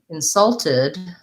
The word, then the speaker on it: insult: and verb stress so insulted to insult to insult someone verb second syllable stress and insult is what they said noun so that one does follow the rule of nouns for syllable stress verb second syllable stress